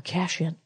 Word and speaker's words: Cation: If you give them money, my sister, Darla Cation, or Cashin, as she likes to pronounce it, they'll buy the food they want, or you can just bring them food.